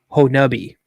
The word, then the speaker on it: Honobia: Land ulti the name of the community is pronounced locally honi following the Chaka Indian relocation to the area